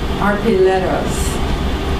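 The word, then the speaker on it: arpilleras: Traditional tapestries, arpilleros. Alice, have I pronounced it properly? The L's pronounced like a Y.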